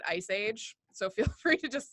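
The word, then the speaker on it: EaaSI: The acronym does not look this way, but we pronounce it Ice Age.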